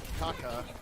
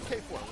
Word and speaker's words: Kaka: Meanwhile, You got good old Kaka on the side, which is now apparently the proper way to say it. It's no longer K4.